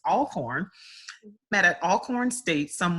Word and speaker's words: Alcorn: very picky about pronouncements I think it's all corn I used to say alcohol but it's all corn mad at Alcorn State